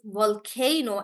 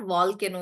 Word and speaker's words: volcano: is the correct answer in volcano guys we stress on K and that's why it's volcano and not volcano like we used to say it's not volcano it's volcano yes herika and uh